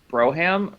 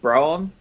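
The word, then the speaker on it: brougham: think that the house this next term is pronounced broham brom b-r-o-u-g-h-a-m as a mary i've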